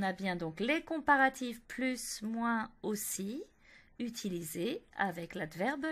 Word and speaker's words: plus: Ensuite, avec les noms, il faut utiliser plus de et bien prononcer le S de plus.